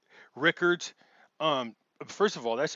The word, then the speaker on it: Rickards: just because it's unusual it looks like uh richards but it's actually like rickards um first of all